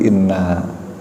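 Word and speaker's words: إنّا: Sesungguhnya kami, menggunakan kata kami ya, bukan menggunakan kata saya, bukan ini tapi inna. Nunnya ada alifnya panjang dibacanya.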